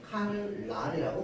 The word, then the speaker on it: 칼날: 앞에 있는 리은이요. 뒤에 있는 니은에게 영향을 줘 가지고요.이 니은이 바뀌었습니다. 어떻게 바뀌었습니까? 라고 발음할 때 칼랄이라고 바혔습니다.